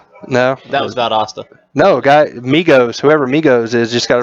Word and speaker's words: Migos: Migos, like the A is silent? Yes, and there's no 3 in it. It's just Migos.